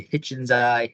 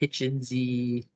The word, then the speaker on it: hitchensi: Um, you could say Hitchensai. Hitchenzy. Depends on whether or not you want to Latinize the English name.